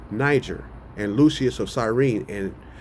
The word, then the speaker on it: Niger: It says Niger is pronounced Niger, right? It says of Latin origin, which means black.